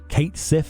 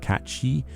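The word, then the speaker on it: Cait Sith: mecca returning and including kate sith for those of you who pronounce it that way and catchy for everyone else who pronounces the other way and any other pronunciations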